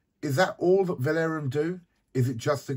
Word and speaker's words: Valaurum: But let's go over now to the World Money Fair and an interview with Valaurum. Hi, so we're here at, how do you pronounce it?